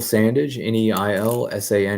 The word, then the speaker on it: Sandage: Hello, my name is Sandage, Neilsandage.